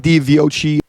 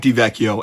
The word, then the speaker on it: DiVecchio: Mike DiViochi. Hey, this is Editor screaming at YouTube on why the hell I pronounce his name like that. It's Mike DiVecchio, and you should learn